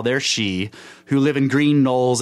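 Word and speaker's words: sidhe: now she is interesting it's spelled s-i-d-h-e but it's pronounced she okay so when you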